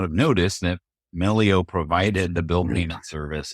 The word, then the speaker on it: Melio: So, shifting gears to Melio. And there's always the the debate of how do you pronounce this this term? Is it Millio or Melio? Right.